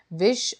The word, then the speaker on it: विष: विष और बिस दोनों में बहुत डिफरेंस है। शब्द का इसका प्रोनाउंसिएशन भी अलग है, प्लस लेटर भी अलग यूज़ हुए हैं, लेकिन मीनिंग बिल्कुल चेंज हो जाती है।